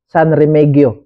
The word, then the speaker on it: San Remegio: kaputian dito na ang San remegio sa magpronounce an pero ingon dito san remegio daw San remegio cove Beach